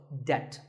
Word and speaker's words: debt: find yourself in debt the B is silent in this word so debt if a debt is